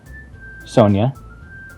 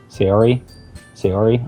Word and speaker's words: Sayori: Sonia. I know it's not Sonia. Sayori, I'm pretty sure is how it's pronounced.